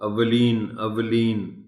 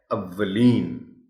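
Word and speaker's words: اوّلین: خلوص ہے یہ لفظ۔ اولین واو پر شد کے ساتھ زبر ہے، اس شد کو نمایاں کر کے پڑھا جانا چاہیے۔ اس کو اولین کہنا غلط ہوگا۔ درست تلفظ اس لفظ کا ہے اولین۔ تیار عام استعمال ہونے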